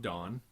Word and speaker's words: Dan: And it was called Dawn. Like Donald. Actually, it's spelled Dan, but they say it's Dawn.